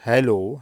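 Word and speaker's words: Hallo: merhaba anlamında bir kelime bunu tabii ki yoğun koyu bir a harfiyle telaffuz etmiyoruz hello hello a ve e harfine yakın bir şekilde telaffuz ediyoruz veya ha Merhaba selam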